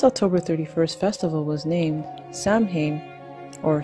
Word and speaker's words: Samhain: This October 31st festival was named Samhain or Samhain. Both are pronounced Samhain or Summer's Eve.